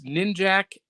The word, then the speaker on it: Ninjak: It's Ninjak and Shadow Man, or Ninja K, depending on how you pronounce it.